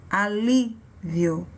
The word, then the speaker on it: alívio: Alívio. Então, o som mais forte, a sílaba mais forte dessa palavra foi a sílaba li.